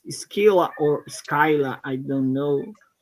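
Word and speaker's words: Scylla: Skila is the first one. Am I right? Yes, you're right. Skyla DB. I don't know why. Um, I don't know why. Google is pronounced as Skyla.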